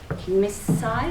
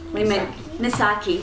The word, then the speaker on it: Misaki: and I noticed when Miss Sai, is that how you say it? Misaki, sorry, your K was disguised.